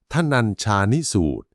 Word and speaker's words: ธนัญชานิสูตร: มี ชื่อ ว่า ทนัญชานิสูตร คำ นี้ อ่าน ว่า ทนัญชานิสูตร ซึ่ง มา จาก นาม